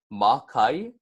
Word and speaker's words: makai: get mauka and then micaiah is gonna be ma ke and then one more time we're gonna say